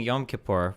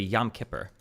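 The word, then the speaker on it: Yom Kippur: think I was saying yom kapor for a long time and then I saw I think I saw several Jewish people say literally yam kipper.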